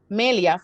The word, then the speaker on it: Melia: Melia for us at the cathedral, since we pronounce her name in Spanish.